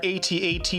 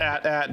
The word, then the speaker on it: AT-AT: All right, now we need our AT-AT or AT-AT, depending on how you say it.